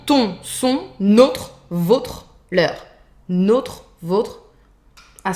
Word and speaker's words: notre: Notre, votre, soft R, et leur, completely irregular.